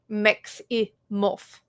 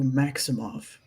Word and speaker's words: Maximov: I have never been a Mex in my life. Mex-i-moff. 3 syllables. Thank you, Maximov, for pushing Jax off of the blood hunt for Leo.